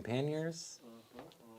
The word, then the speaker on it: pannier: So you're doing panniers Panniers. on the front. Yeah. Pannier. Panniers? Pannier. What did I say? Panniers? You added a syllable. Panniers? There's a lot of dispute, but it's pannier.